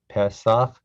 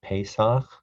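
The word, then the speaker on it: פסח: This is the Hebrew word Pesach. Some people pronounce it Pesach.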